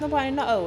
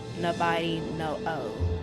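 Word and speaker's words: Nabari no Ou: But yeah, that's Nobody No Oh. It's spelled Nabari space NO space OU. Nobody No Oh.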